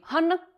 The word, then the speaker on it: Hanna: Hanna, no se pronuncia han en fines, esa doble n es una n muy larga, hanna.